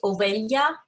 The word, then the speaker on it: ovelha: We pronounce this as Ovelha, as if the H was a Y.